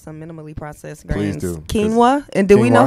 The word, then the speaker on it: quinoa: Okay, look, if you were ever at a restaurant and your waiter or waitress pronounces it like it's spelled, I just wouldn't trust their advice. I'm sorry. You can't. Yeah. Quinoa, not quinoa.